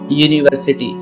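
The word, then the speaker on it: university: अब यहां पे देखिए कई बच्चे इसमें कंफ्यूज होते हैं कि यहां पर तो यू से शुरू हो रहा है। लेकिन ये यू नहीं है। ये हमेशा अपना वाई डबल ओ से शुरू होता है। इसलिए यहां पर जो वाई है ये अपना एक कसोनेंट साउंड है।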